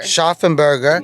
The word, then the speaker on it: Scharfenberger: Scharfenberger.